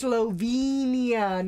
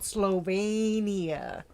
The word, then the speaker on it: Slovenia: Marano get it right just like it's Slovenia not slovania but but but so